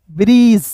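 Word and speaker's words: bridge: बी आर का ब्र आई का ई ब्र डी जी ई ज ब्रज। ठीक है ना? यहां पे डी साइलेंट होगा। जी का ज हो जाएगा। अंतिम में आया ई भी साइलेंट होता है।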